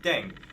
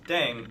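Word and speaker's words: 땡: if that's actually true the pronunciation of deng is similar to thang which is the slang of thing in english last but not least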